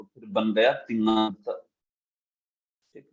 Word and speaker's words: तिङंत: देखिए, तिंग जो है ये, हाँ, उसके साथ अंत जुड़ा है तो फिर बन गया तिङंत। ठीक है, तिङंत ऐसा उच्चारण करते हैं इसका।